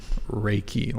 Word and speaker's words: Reiki: Reiki, like a rake.